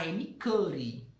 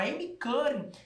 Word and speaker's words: Amy Cuddy: Quem fala isso é uma pesquisadora norte-americana de Harvard, a Amy Cuddy. Antes, como eu não conseguia pronunciar o nome dela direito, eu lia Amy Cuddy. Não é Amy Cuddy, é Amy Cuddy.